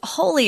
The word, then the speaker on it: wholly: sacred but we're not this is a completely different word with the same pronunciation though so be careful it